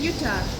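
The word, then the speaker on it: Jutta: My name's Utah.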